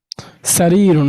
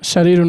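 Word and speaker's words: سرير: হাজিহি না, হাজা শারিরুন, সারিরুন, হ্যাঁ? শারিরুন না, সারিরুন। শারিরুন। জি, জি। শিন হয়ে গেলে অর্থ পরিবর্তন হয়ে যাবে। তখন অর্থ হবে দুষ্ট, খারাপ প্রকৃতি।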